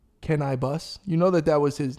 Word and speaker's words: Canibus: Remember the rapper Cannabis, which was Can I Bus?